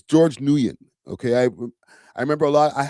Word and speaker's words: Nguyen: I know Flakko like like completely botched up the pronunciation of his name but it's it's George Nguyen.